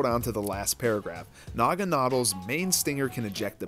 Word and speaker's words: Naganadel: Like, Naganadel looks a little bit better, but Naganadel is what they said is how you pronounce it.